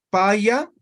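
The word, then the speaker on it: pä: Paya se escribe con contracción, ¿ya? Y eso hemos visto cuando hemos avanzado diéresis, ¿no ve? Entonces, en vez de decir paya, simplemente voy a decir pa.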